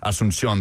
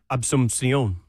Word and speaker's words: Asunción: Say it again, Lucas. Asunción. Absumción. Close enough. Did you throw a B in there?